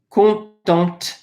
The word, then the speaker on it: contente: You would say je suis contente.